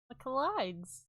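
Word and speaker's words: Michaelides: how do you say that micheles M micheles michelides the silent patient by Alex michelides we will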